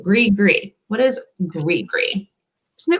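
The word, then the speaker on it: gris-gris: next one is and it does not look like it sounds either grigri which is spelled g-r-i-s-g-i-g-r-i-s so gree gree what is great gree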